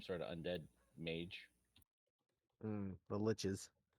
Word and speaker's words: liches: of Undead Mage the liches yeah rhymes with got to remember that okay MH rhymes with